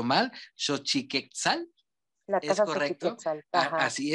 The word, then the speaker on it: Xochiquetzal: es un lugar, a ver si no lo pronuncio mal, Xochiquetzal.